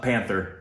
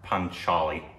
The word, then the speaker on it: Panchali: that last part panelli well it's not Panther to start off with oh yeah it's not pther no panchali sure sure how do you pronounce it u p panchali see that was right uh but yes we